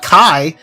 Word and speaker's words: chi: I see CH I I think Chi not Kai they're pronouncing as Kai which I guess as you said it's like the Greek Roman letter or the Greek Roman letter you hear me oh my God the Greek word or Greek letter whatever